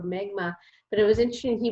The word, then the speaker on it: Mi'kmaq: Prince Edward Island, so the Mi'kmaq people, or Micmac is what we incorrectly pronounced it before, Mi'kmaq.